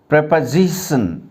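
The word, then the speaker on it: preposition: सीख लेते हैं, क्योंकि इसका नाम प्रेपोजिशन, प्रेपोजिशन, या ओ का उच्चारण ए की तरह होता है, ये प्री नहीं होता है। जैसे ज़्यादातर क्या होता है, टीचर्स या स्टूडेंट्स इसको प्रीपोजिशन बोल देते हैं। That is absolutely wrong प्रोनाउंसिएशन। It's exact और करेक्ट प्रोनाउंसिएशन इज प्रेपोजिशन।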